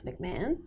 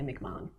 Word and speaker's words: McMahon: If you like the American pronunciation, it's McMahon. Yeah. Aussies say McMahon.